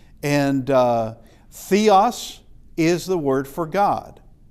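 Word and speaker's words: θεός: Uh we could have a theta and it's th as in theme. And uh theos is the word for god.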